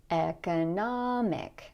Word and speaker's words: economic: Notice in this word that because the stress is here, the O is going to be very clear. Economic.